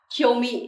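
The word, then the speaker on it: 興味: Từ này na ná đúng không, cũng có chữ vị giống từ 56 trước đúng không, nhưng cách đọc ở đây khác nha, sẽ đọc là kyomi desu ne.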